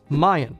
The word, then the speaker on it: mine: Another example of New Jerseyans pronouncing one-syllable words as two is Mayan. Like, oh, that pillow over there? That's Mayan. It almost sounds like the ancient civilization for mine, but yet two syllables.